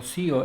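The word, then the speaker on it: tio: Y el sufijo tío, que se pronunciaría como sio en latín.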